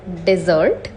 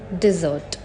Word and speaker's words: dessert: it's Dengue and lastly it's not desert it's dessert I hope you will